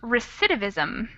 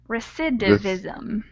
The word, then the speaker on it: recidivism: thank you yeah that's a tough one it's pronounced recidivism recidivism recidivism perfect thanks all right so this is an